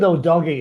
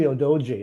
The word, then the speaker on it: Udogie: Actually, they pronounce it Odogi. It's actually Odoji, I think. Odoji.